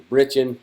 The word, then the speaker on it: breeching: in the West we more commonly referred to as the breeching, but it is spelled B-R-E-E-C-H-I-N-G, and we just cut it off with breeching.